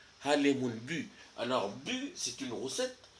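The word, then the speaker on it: bû: veut dire roussette alors le le son en yï ça ça s'écrit U avec un accent circonflexe ok c'est là qu'on dit u bu alors bu c'est une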